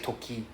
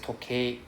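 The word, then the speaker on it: 時計: Then toke. Toke. Right? Then toke and E don't read together. Just now you said toki. Right? So it's just toke.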